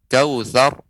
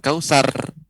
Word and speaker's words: كوثر: A'tayna kemudian kautsar, ra yang disukunkan, waqaf sebelumnya berharokat fathah, maka ra dibaca tebal. Kautsar bukan kausar ya.